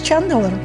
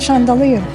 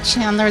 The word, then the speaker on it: Chandler: His name was Chandler. I couldn't even pronounce it. I kept saying chandelier.